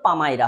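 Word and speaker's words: palmyra: একটা নোটবই এবং এ bundle of পামাইরা writing এটার উচ্চারণ কিন্তু পামাইরা হবে।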